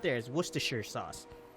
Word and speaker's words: Worcestershire: know what it you know what the correct pronunciation of the word is know what's the sure Worcestershire that's it what's the shirt you forgot the